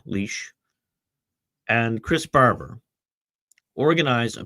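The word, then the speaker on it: Lich: In 2022, Tamara Lynch, or I'm pronouncing her name wrong, Leash, and Chris Barber organized a peaceful protest in Ottawa against the plague mandates.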